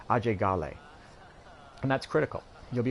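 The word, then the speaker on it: Ajay Ghale: but let's start with our main character AJ Gale or as he's called in the local pronunciation Oh Jay Galle and that's critical you'll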